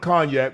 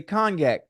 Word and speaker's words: cognac: You just taught me how to say cognac, but it's a fucking G in that motherfucker, and the G is silent.